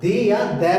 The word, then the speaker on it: the: दै कहां पे बोलते हैं, कॉन्सोनेंट लेटर बिगिनिंग वर्ड्स जो होते हैं, कॉन्सोनेंट से शुरू होने वाले जो शब्द होते हैं, उनमें हम इसको दै प्रोनाउंस करते हैं, THE को दै। और जो वर्ड्स ऐसे नाउन्स जो वोवल से शुरू होते हैं, ए, ई, आई, ओ, यू से शुरू होने वाले, उसमें इसको दी बोलते हैं, दी, THE, दी, दै।